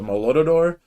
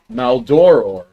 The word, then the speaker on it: Maldoror: Songs of Maldorador? Maldorador? Maldoro. What? Songs of Maldoror. Maldoror. All right. No one corrected me. Come on. I pronounce it as Maldoror.